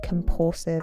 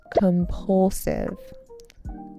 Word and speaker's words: compulsive: It had become a compulsive habit. Compulsive. impulsive with a stress on the second syllable.